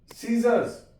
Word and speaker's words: scissors: सीजर्स, SISCISSORS, सीजर्स, यहां पे भी सी साइलेंट है।